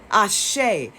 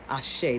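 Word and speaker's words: Axé: Ashe. It's also Brazilian Portuguese is A-X-E. Ashe. The X is pronounced like S-H.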